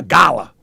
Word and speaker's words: Gullah: But look, so it's Gullah. I said it right now, Gullah.